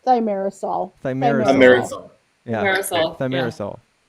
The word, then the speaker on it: thimerosal: correct your pronunciation Yeah, really quickly? say it. It's thimerosal.